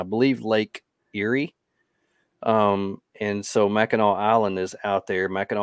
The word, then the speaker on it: Mackinac: So you cross Mackinac Island and go up that way? It's Mackinac Island. There's a C.